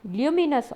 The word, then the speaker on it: luminous: ये सारे ऑब्जेक्ट्स जो हैं जो खुद की रोशनी देते हैं, इनको कहते हैं हम ल्यूमिनियस ऑब्जेक्ट, ल्यूमिनस ऑब्जेक्ट्स। देखिए क्या स्पेलिंग लिखी है यहाँ लेफ्ट साइड पे, थर्ड पैराग्राफ में बोल्ड में लिखा है ना।